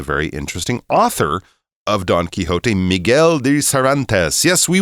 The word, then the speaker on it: Quixote: So we're going to go with sort of the middle ground of Quixote. But yes, older people might, or older versions of the word might be pronounced Quixote. But I think now we try to do it in a slightly more accurate Spanish style.